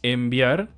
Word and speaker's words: enviar: Por ejemplo, la palabra enviar la escribimos con N y con B. Sin embargo, se pronuncia con M porque la B obliga a los labios a juntarse y eso hace que la N se transforme en una M.